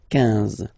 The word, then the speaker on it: quinze: Same thing here, U doesn't exist, so quinze, quinze, quinze, all right? IN, nasal, so it's un, quinze, quinze, okay?